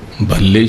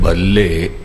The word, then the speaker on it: भल्ले: तोहे बन आवे य जो भल्ले शब्द है े इसका उच्चारण ठीक नहीं होया इस तरह कह छडिया भले अमर दास तो इस तो भाव होया के अम अरदास जी बहुत चंगे हन भले ह पर उच्चारण करना है भल्ले अमरदास गुण तेरे क्योंकि फिर द